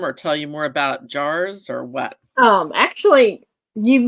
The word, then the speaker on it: JAARS: folks can check out our website um and jars is spelled j a a ARS uh so it's two ways uh so if you want to look it up jars.